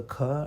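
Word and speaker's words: ख: So the way to do it is this, okay? When you say ka, if you put your forefinger near your mouth, there will be no air coming out. You will not feel it. Ka. When you say kha, you'll feel air. Kha.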